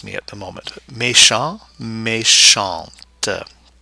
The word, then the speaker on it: méchante: Méchant, méchante. The E at the end of méchante, the feminine form, forces the pronunciation of that T, whereas it's silent in the masculine form.